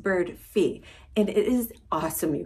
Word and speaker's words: Birdfy: up on the screen it looks like bird five but it is actually pronounced bird fee and it is awesome